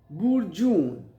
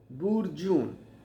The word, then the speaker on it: burgeon: b u r g e o n And the pronunciation is bur-jun, bur-jun.